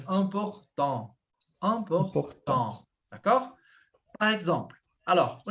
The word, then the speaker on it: important: Então, não vou falar important. Aqui não tem como eu falar tan, porque o sufixo, ó, AN, né? Tem o T. O T é mudo, mas important.